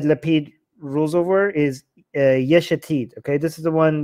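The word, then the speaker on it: Yesh Atid: rules over is uh yeshetid okay this is the one that i have the biggest problem with because his name rhymes with the name of his party and that's why it's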